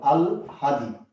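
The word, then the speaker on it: আহ্লাদি: উচ্চারণটা একটু ভালো করে খেয়াল করো। আল হাদি, এটা হলো এটার উচ্চারণ শব্দটা, আল হাদি।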